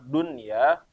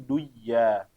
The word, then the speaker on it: dunya: gunah jangan jadi misalnya kalimat Dunya Maka jangan dibaca menjadi duya terus juga Sin Wan